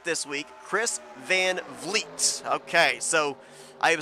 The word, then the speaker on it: Vliet: Okay, so I am so used to wanting to call him Vliet, but it's Vliet. So 1 for 1 tonight. Chris Van Vliet. Yep. It's like fleet, but with a V. Not 2 syllables.